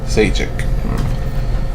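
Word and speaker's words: Šejić: Rhymes with sage. Sajic.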